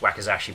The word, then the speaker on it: wakizashi: then the shorter one, I think it's pronounced wakizashi, but I always get it wrong, was not because everyone's